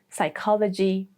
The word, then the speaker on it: psychology: Number 1, when the word starts with P, especially with PS, like in psychiatry, psychology, pseudonym, or the more British pronunciation, pseudonym.